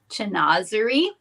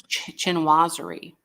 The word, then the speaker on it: chinoiserie: would be considered now I googled this this pronunciation and this is what the lady said chazer if anybody knows if that's correct I it's chinoiserie well Google lady said